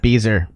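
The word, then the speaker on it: Bieser: The only sci-fi I read is Scott Beezer. Rhymes with geezer.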